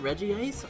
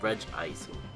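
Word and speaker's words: Regice: fun Community bonding experience do you pronounce it Reggie ice or reg ice I'm actually surprised I said reg ice right away cuz that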